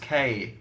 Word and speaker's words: Takei: plan let's do that Dan you said my name wrong it's pronounced Takei what did I say